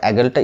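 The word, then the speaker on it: Aegle: একজন কমেন্ট করেছেন যে এগেল না ইগল কোন উচ্চারণটা ঠিক দেখুন এক্ষেত্রে যে ইংলিশ স্পেলিংটা ইজি এল ই একচুয়ালি কিন্তু এই উচ্চারণটা এগেল তো আমরা যখন খুব বেশি উচ্চারণ করি বা খুব বেশি যখন বলি তখন কিন্তু অনেক সময় এগেলটা ইগল হয়ে যায় তবে একচুয়াল উচ্চারণটা কিন্তু এগেল নেক্সট একজন কমেন্ট করেছেন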